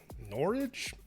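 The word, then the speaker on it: Norridge: comics reader from norwich norwich illinois sounds like porridge with an n uh named randy shh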